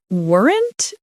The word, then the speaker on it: weren't: Weren't? That is a bit hard. It is one syllable, fast.